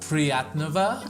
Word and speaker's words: приятного: Приятного Priatnova аппетита.